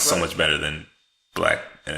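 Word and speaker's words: 6LACK: which Six we've never Lack, talked pronounced Six Lack. No, just a black pronounced black.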